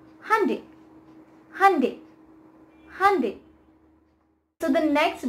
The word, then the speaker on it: Hyundai: next brand is this and it is not hyundai or honda it's handy hyundai hyundai so the next brand is this